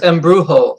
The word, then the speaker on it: embrujo: J It's or Y sound? neither. It's embrujo, like an H, like Oh, embrujo, like Jose, like embrujo, like yeah.